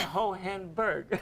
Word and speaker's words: Hohenberg: You pronounce it ho, hen, and a berg.